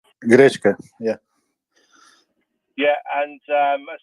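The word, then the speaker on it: гречка: Am I pronouncing it correctly? Grechna. Grechka, yeah.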